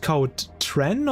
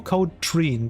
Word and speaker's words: Code Tren: Is it like the Tren, like a short e, or is it should it be long, like Treen? Treen, like tree. Yeah, that makes more sense.